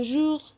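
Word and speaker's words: jour: ممكن اقول يوم يعني جوغ جوغ جوغ كل يوم توجوغ صباح الخير بونجوغ يبقى انا نطقت الار غ جوغ توجوغ بونجوغ طيب ده بخصوص الار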